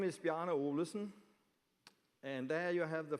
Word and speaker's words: Bjarne Olesen: My name is Bjarne Olesen, and there you have the first problem. How do you pronounce my name?